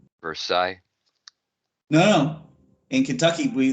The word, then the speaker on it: Versailles: pronounce the town wrong versailles no in kentucky we they really don't pronounce it correctly they really pronounce it as for sales it's versaille i know